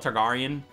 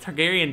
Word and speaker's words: Targaryen: such a hard name I want to call it targarian targarian but Targaryen does sound better obviously because that's how you pronounce it but and um